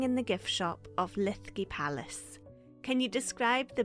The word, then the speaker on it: Linlithgow: You could say Lithgow if it's easier. Lithgow. The Scots pronunciation. So we're sitting in the gift shop of Linlithgow Palace.